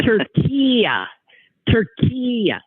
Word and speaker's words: Türkiye: the country anymore yeah they changed it to Tura turke it's it's very much like it but it's te u r k i y e